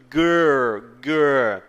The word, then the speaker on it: girl: Girl é a língua lá no céu da boca, tá? Girl o I aqui é como se fosse um A com uma espécie de acento circunflexo, tá? Girl, você não diz girl, é girl.